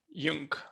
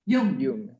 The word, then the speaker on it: Yung: Yung. Yung. Yes. Do we pronounce the final G or no? Yes. Yes. Yung. Yung. Yes. Is it Yung. Korean, Yung? Yes, it's Korean.